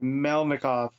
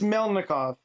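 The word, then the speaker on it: Melnikov: i always want to swap around the n and the k and it just messes me up mel mikhov i thought you did something different there though you sort of missed out a whole syllable that was where you said it the first time let me look i have to read it no it's mel nikov yeah that's what i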